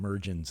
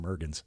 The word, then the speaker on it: Mergans: After almost 49 years, I'm used to people saying Mergens instead of Mergans.